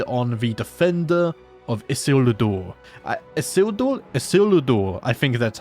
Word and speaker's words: Isildur: Isildur, I think that's how you say it. I looked up some more Elven pronunciation videos, and I'll tell you what, guys, it's a struggle.